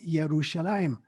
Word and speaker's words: Yerushalayim: were German scholars, and in German, J is pronounced like a Y. And so, for instance, our good friend, Jonathan, his name is spelled with a J, but it's pronounced Jonathan. When we talk about Jerusalem written with a J, in Hebrew, it's called Yerushalayim.